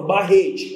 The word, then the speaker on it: barrete: tônica da última palavra última palavra barrete Qual é a sílaba tônica é o re ponto até lá beleza